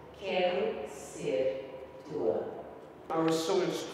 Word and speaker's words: Quero Ser Tua: It means I want to be yours, but you should pronounce it Quero Ser Tua.